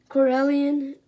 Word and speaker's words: Corellian: You can add these Corellian hounds.